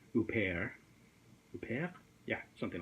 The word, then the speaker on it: Huppert: or wait a minute she's French so she probably pronounces it Isabel who pear yeah yeah something like